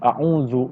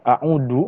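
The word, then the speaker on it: أعوذ: Nah, di sana kan kata pertamanya a'udzu billah, di situ menggunakan huruf zal ya. Tetapi ketika mungkin ada kesalahan yang mengakar mungkin sehingga membacanya a'udzu menggunakan huruf dal, itu artinya lain dan bahkan naudzubillah bertolak belakang ya.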